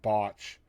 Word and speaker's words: Botch: which is just, the first 2 letters of each one, Botch. And I kind of like that, though. I used to tell you, please make sure you pronounce the O, because I don't want Uncle, that wouldn't be nice.